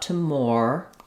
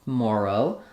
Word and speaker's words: tomorrow: tomorrow uh we have the stress on the mar syllable tomorrow um and again here we have the letters o r are not saying or it's not tomor tomorrow um it's not um